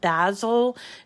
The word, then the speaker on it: Bazzil: they have what's called Basil cardstock. It's spelled Bazzil, and that's kind of a standard that you can get colors that they don't have at Cricut.